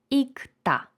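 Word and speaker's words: 읽다: вам одразу кажу що ми читаємо літеру К і правильна вимова цього слова буде ікта ікта читаємо к а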